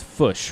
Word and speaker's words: Foch: kind of embody what fush is like uh so one of my favorite burgers of all time uh is i said it's fish right no you said it right okay forgive me no